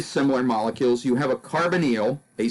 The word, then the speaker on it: carbonyl: this carbonyl group I mentioned before and we pronounce this word carbonyl it's a C double bonded oh and this